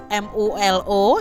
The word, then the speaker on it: MULO: Jenjang pendidikannya itu di ELS juga di Bukit Tinggi, lalu di MULO ya, MULO ya. Ini cara membacanya nih pakai bahasa Belanda ya adik-adik ya, di Padang dan Hendels Middelsbeer School di Jakarta.